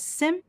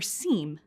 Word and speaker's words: SIEM: The acronym SIEM may be pronounced as SIM or SIEM, but we'll use SIM throughout this program.